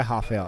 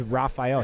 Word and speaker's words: Rafael: lovato rafael lovato it's he doesn't go by ha fail it's raphael he's america he's from oklahoma